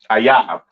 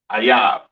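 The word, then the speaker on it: אויב: Ayab. Okay, that is how you pronounce enemy. All right, in the Hebrew, Ayab.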